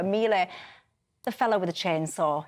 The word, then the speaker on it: Milei: But look, Javier Milei, how do I pronounce this? I always get it wrong. Milei, there you go, Milei.